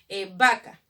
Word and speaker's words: vaca: Pero la V también suena como B, ¿o no? Cuando tú escuchas, por ejemplo, vaca, suena como si fuera una B.